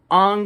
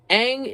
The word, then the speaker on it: Aang: the show first of all his name is ong in the movie but it's pronounced aang but okay fine that's one little misstep and